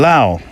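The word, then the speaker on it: Laos: he found himself in Lao you don't pronounce the S do you in La Lao is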